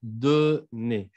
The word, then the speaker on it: donner: Le verbe numéro 20, c'est donner. Qu'est-ce que ça signifie donner? Dar. ¿Ok? Y no me vayan a pronunciar la R. Recuérdense que con los verbos al infinitivo pronunciamos al final E.